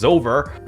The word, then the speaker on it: Zover: Thank you chat for actually correcting me on how to pronounce this word, because this looks really difficult to pronounce, but it is Zover.